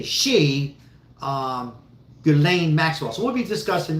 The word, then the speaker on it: Ghislaine: Ghislaine Maxwell. My wife gave me hell. So you were saying her name wrong before. You're calling it Christine.